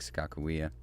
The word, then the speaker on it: Sakakawea: we got out to Lake Sakakawea that's how North Dakota locals said it anyways I don't know